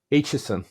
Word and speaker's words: Aitchison: I'm the, and today it is my pleasure and a privilege to welcome Matt Aitchison.